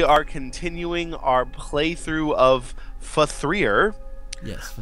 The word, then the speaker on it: F.3.A.R.: continuing our playthrough of faer yes fer or also known as fear three I'm pretty sure it's pronounced faer I can't tell it's